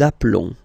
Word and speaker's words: appelons: Nous nous appelons. Okay, final S doesn't exist.